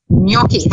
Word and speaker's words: gnocchi: the kitchen, and Joanne was making this wonderful gnocchi. Have I said it right this time? That's right, gnocchi.